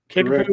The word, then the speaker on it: Kickapoo: Kickapoo High School, is that correct? Correct. Kickapoo.